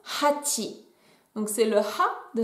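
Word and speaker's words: 八: Et ça tombe bien, car 8, ça se prononce hachi.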